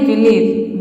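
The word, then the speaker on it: belief: हो गया उसी तरह से यहां पे देखिए बिलीफ बिलीफ मतलब होता है विश्वास बिलीफ मतलब होता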